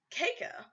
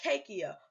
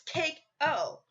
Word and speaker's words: Keiko: So cake is spelled K-A C-A-K-E, okay? Sorry, I don't even know how to spell my own name. Anyways, so it's spelled C-A-K-E. Then you add the O, so it's Cake O. If it was Cakey-O, it would be C-A-K-E-E-O.